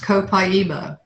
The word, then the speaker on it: copaiba: years copaiba this is it looks like Copa but it's pronounced copaiba and this is um